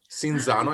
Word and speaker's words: Cinzano: It's the name actually is quite famous because the name, it's Cinzano, like the drink. Cinzano, I guess you would pronounce it.